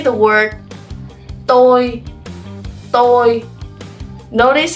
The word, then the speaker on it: tôi: So the first word, you will pronounce it tôi.